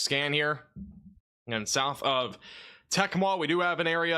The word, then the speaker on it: Tecumseh: And somebody put the pronunciation on a super chat. Tecumseh?